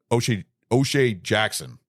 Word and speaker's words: O'Shea Jackson: Seeing O'Shea Jackson play.